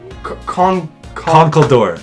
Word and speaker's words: Conkeldurr: Conkeldurr.